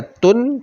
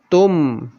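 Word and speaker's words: محيط بالكافرين: Bacanya sama seperti tadi, muhitum bil kafirin. Tidak dibaca tun, tetapi dibaca tum.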